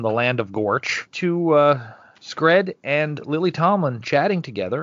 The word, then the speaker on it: Scred: I have said Screb. I think you guys have said Scrat. Yep. Yeah. His name is Scred. And I know this, and I have it written down, and I still say it wrong every time.